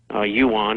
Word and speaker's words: yuan: time they continue to buy dollars with Yan Yuan as it's pronounced that uh they create out of thin